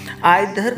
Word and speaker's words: either: आइदर को इधर भी कहा जाता है और नाइदर को निधर भी कहा जाता है। दोनों प्रोनाउंसिएशन बिल्कुल सही है।